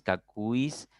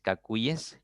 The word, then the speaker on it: caces: los medios de comunicación te meten este este esta pronunciación cuis cacis eh convoys No ahora te repito lo correcto es convoyes caces cuyes leyes porque hallemos le la lógica si si se pronunciaran así estas otras palabras convoys cacis cuis tendríamos que pronunciar también leis no y este se rompería